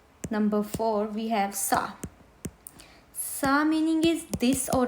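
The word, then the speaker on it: ça: lesson l s l number four we have sa sa meaning is this or that in French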